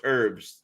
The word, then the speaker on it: herbs: friends have probably went it's herbs you don't pronounce the h and she was like